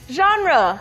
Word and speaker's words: genre: Genre. 네, genre라고 합니다. 좀 발음이 특이하니까 한번 연습해보세요. genre라고 하는데 장르 비슷하죠?